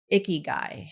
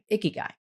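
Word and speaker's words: ikigai: And it's the concept of icky guy. Have you heard of that? I have not, but share. Sounds sounds interesting. It's spelled I K I G AI. Icky guy.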